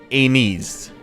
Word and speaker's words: Aenys: most accepted one is Aenys, as how you would say it. That doesn't seem how you would say it based on how, you know, it's spelled, but we'll go with Aenys for just now, because